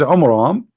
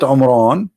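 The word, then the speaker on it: Amram: from the Bible about the father of Moses which is AMRAAM not Imran Imran wrong a wrong name I mean have you ever heard of a God he cannot even say pronounce a Hebrew word home rom how the word Imran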